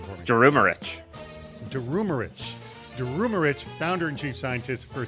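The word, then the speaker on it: Durumeric: He's the CISO over at Genesis Financial Solutions, and Zakir Durumich. You know what, Zakir, you're going to have to pronounce that one again for me. Pronounce the last name for me. Durumarich, founder and chief scientist for Census.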